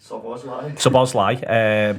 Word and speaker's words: Szoboszlai: Szoboszlai, brilliant stuff. We have him there for pronunciations and camera work.